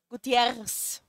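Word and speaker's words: Gutiérrez: They say we have to roll the R, so Gutierrez.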